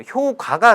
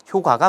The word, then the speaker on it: 효과: 효과가 사실 옳은 발음이죠. 근데 뭐 평소에 잘 효과 이렇게 쓰다 보니까 효과 이렇게 발음하기가 좀 어색한데요. 어쨌든 선생님 아나운서들 발음 들어보니까 효과라고 이야기를 하더라고요. 효과가 맞습니다.